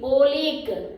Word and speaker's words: oleic: one is oleic acid oil ic oleic what is it oleic acid pronunciation for this is oleic acid mainly we will find